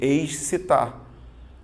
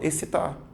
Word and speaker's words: excitar: olhando para palavra porque quando você olha para a palavra você tá vendo X e você aí você tende a fazer excitar mas veja que quando você tá espontaneamente conversando você fala excitar ou seja esses dois elementos representam apenas um som apenas o fonema essa tá vendo você